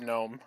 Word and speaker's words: gnome: so I also heard gnome okay all right g is silent well how Don says